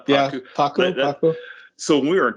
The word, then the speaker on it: pacu: Took me back to my college days because you guys pulled a pacu how do you pronounce pacu? Yeah, pacu.